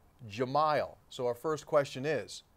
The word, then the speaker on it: Jahmile Addae: used to play here we were told it was Jamal a die but when he was recently hired back in as a Mountaineer assistant coach the pronounce eran it said Gemayel so our first question